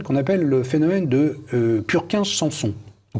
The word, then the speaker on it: Purkinje: appelle le phénomène de Purkinje-Sanson, ou Purkinje-Sanson. Puisque Purkinje était, si ma mémoire est bonne, un savant d'origine bohémienne, il faut prononcer son nom comme ça.